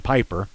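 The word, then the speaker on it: Pieper: glenn 34 san antonio well i speak german and i know the pronunciation rules it's supposed to be peeper but i hear it by saying piper san antonio peeper piper 10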